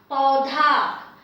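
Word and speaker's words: पौधा: Now I have the pa with au matra, so pau, and dha, the dental aspirated dha because of the loop with aki matra, dha, paudha, paudha.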